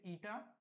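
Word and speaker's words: η: এটার প্রোনাউন্সিয়েশন হচ্ছে ইটা, এটাকে আমরা বলবো এফিসিয়েন্সি, ওকে?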